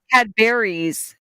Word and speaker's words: Cadbury's: He actually pronounces Cadbury's. it properly. We say Cadbury cream egg. He said Cadbury's because you actually add the S onto it, which is like actually proper English.